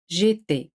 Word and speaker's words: j'étais: Se pronuncian igual.